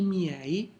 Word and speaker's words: miei: It will be I miei, I tuoi, I suoi, I nostri, I vostri, I loro. Notice the pronunciation. Every vowel is pronounced.